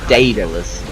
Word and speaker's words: Daedalus: Oh man, that's how it's pronounced too. It's was Dae. Yeah. DA. Daedalus.